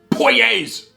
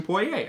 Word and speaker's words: Poirier: mentioned this is dustin poirier's bourbon i i believe that's how you pronounce his name like that's the original french pronunciation of course dustin poirier